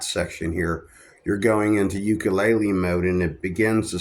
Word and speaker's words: ukulele: The proper pronunciation in Hawaii, where these are designed for starters, is ukulele.